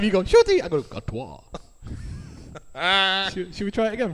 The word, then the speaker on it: Gatwa: pronounce his second name? Gatwa.